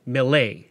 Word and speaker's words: Millet: comes from August Millet now I'm going to be pronouncing his name mle because he was a French fur Trader and that's likely how it was pronounced he was a fur